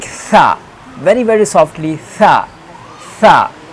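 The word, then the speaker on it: ث: From where we have to pronounce, the pronunciation place is when the front corner of tongue will be between the two jaws, two teeth, like upside and two side, third, second upside and downside, like tha.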